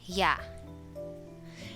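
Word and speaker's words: ㅑ: we have this as yeah everybody say yeah yeah with your mouth open it is pronounced like yeah in the english word yard and then this one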